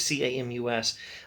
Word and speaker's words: Camus: think camus would say speaking of constants not pronounced kim who is c-a-m-u-s uh so i think camus would say something